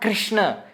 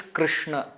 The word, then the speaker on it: Krishna: Gujarati Krishna isn't it we we use the pronunciation called Rue in North India Etc they will say Krishna Krishna it is not Krishna it is not Krishna it is Krishna I hope you are you are able to